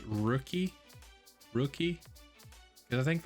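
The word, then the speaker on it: Röki: i think it's pronounced rookie rookie because i think like the the the uml over the o means makes like the i think it's like rookie rookie i don't know how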